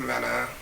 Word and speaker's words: Mena: But apparently, this girl, Erica Mena, that's how you say her name, Mena? Yeah. Mena.